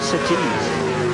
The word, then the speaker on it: Surtees: I like the way you say Surtees. I like that. It is a northeastern affliction, emphasising the second syllable.